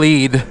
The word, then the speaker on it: Lead: Nope, sure fire way to tell if you aren't from here is if you call lead lead. And yes, it's spelled that way. It's spelled like lead. But it's lead.